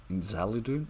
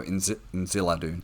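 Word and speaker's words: Inziladûn: Like if you remember from season 1, at one point Miriel references her father's name, which is Inziladun or Inzaladun. No, Inziladun.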